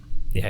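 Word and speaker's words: Ys: uh so wise do you know how to pronounce this I think it's ye is it ye okay so it's y s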